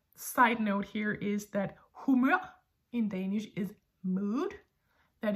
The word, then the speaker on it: humør: And just a little like side note here is that humør in Danish is mood. That is, we stress the latter part, that is the last syllable of the word, humør.